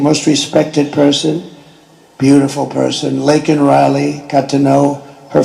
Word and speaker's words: Laken: And then he pronounced her name wrong. Remember, he called her Lincoln. Remember that?